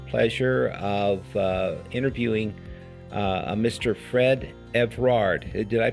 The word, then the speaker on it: Evrard: Fred Evrard. Did I pronounce it right, Fred?